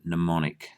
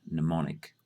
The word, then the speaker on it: mnemonic: you spell it interestingly it's got an M on the front of it but we say it mnemonic it is simply a